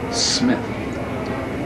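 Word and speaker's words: Smyth: He said, "My boy's name is Smith." I said, "S-M-Y-T-H is Smith?" He said, "Yeah, that's the way he wants it pronounced."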